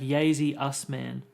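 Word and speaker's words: Yasy Usman: Oh, it's like Yazy Usman.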